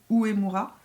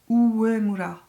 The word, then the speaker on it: Uemura: Enfin avec le recourbe-cils Shu Uemura. En fait il faut que je le prononce à la japonaise. Uemura.